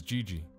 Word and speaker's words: GG: Jesus eventually became known as Gigi, since Merle Jr. was unable to pronounce Jesus correctly.